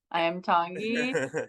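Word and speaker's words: Iam Tongi: I am Tongi.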